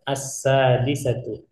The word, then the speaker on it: السادسة: Ini cara bacanya as-sadisatu. Ya, seakan-akan di sini ada fathah. As-sadisatu sobahan.